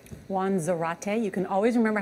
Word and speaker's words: Zarate: Juan Zarate. You can always remember how to pronounce Juan's name. It rhymes with karate. Juan Zarate.